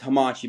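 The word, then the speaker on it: Hammacci: It's h a m m a c c i. It's Hamachi, basically.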